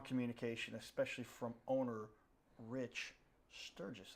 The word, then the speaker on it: Sturguess: especially from owner Rich Sturguess. They spelled it without the U in there, but that's the. I'll answer to both. You'll answer to both. It's pronounced the same.